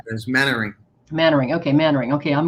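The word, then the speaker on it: Mainwaring: it's it's written main wearing but it's actually pronounced mannering so like there's mannering mannering okay mannering okay i'm going to get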